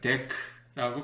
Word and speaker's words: Deque: 이거를 발음하기를 DEC라고 발음하기로 했습니다.